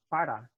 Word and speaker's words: para: It's pronounced like the flapped T in a word like butter. So repitan, butter, butter, butter. Now with butter, if you take that and take, for example, the word para, P-A-R-A, in Spanish, you're going